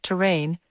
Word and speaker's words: terrain: Notice that terrane is a different word from terrain. The two are pronounced the same, but terrain refers to the shape of the surface topography or lay of the land.